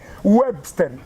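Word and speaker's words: Uebster: me pone webster porque mi nombre se escribe u e b s t e r webster mi papá me pone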